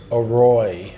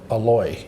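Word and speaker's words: อร่อย: it just like um a roy is delicious a-r-o-i or roy but when you hear tai say it it comes out aloy it sounds like a-l because they're the way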